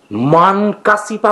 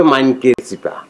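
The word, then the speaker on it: মাইনকা চিপা: ওটা হবে মাইনকে চিপা মানে হচ্ছে বেকায়দায় পড়া বা গেরাকলে পড়া।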